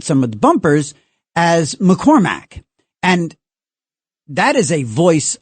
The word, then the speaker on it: McCormack: Uh, and I don't I I just inhstinctively I say McCormack. My family has always said McCormack and it's always been M A C K at the end.